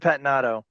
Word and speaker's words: Pettinato: How do you pronounce Patnado? Patinado.